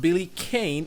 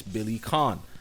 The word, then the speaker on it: Billy Kane: back, and it's not Billy Kane, it's Billy Khan. That's how it's pronounced. Don't ask me why. I understand there's an E at the end, it should be Kane, but it isn't.